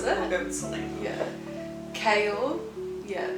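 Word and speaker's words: Chaol: go with Sela yeah kale yeah like chaos but with an l k like like Kale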